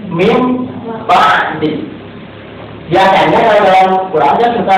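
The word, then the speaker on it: مِنْ بَعْدِ: Ini dibacanya tidak min ba'di tapi mim ba'di.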